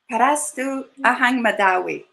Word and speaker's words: Parastu Ahang Mehdawi: I can't begin to pronounce her last name, but she's going to say it again. Parastu Ahang Mehdawi.